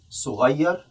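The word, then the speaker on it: صغيّر: صغير, and please note that the pronunciation here, we have shadda.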